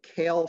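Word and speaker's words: CAALE: what I call the kale framework pronounced like the leafy green vegetable kale but not exactly spelled that way as an acronym uh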